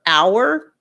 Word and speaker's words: hour: I said, other forms, other words with a silent H are hour, air as in HEIR.